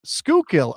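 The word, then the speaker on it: Schuylkill: Skookill.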